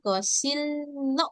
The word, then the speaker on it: 거실로: Jadi langsung lo aja. 거실로 Iya, 맞아요. gosillo dibacanya. Gosillo. Double L. Ini ada real. Ketemu real, bunyinya menjadi L.